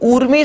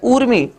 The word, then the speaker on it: ऊर्मी: तो उर्मी शब्द की जैसे हम उच्चारण भी करते हैं तो एक तो होता है उर्मी और एक होता है ऊर्मी, और शुद्ध उच्चारण जब हम करें तो ऊर्मी होता है।